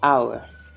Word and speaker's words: hour: เ จ้ า อ่ า น ว่ า hour ฉ ะ นั้ น ห ลั ก ก